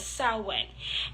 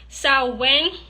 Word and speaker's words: Samhain: And there are 3 ways to say Samhain, 3 ways to pronounce Samhain. And they are Samhain, Samhain, and Samhain. I will say that again. There are 3 ways to pronounce the witch's new year. Samhain, Samhain, and Samhain. Those are the 3 pronunciations for Samhain.